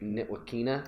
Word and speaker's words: Ntilikina: Yeah, Frank Ntilikina.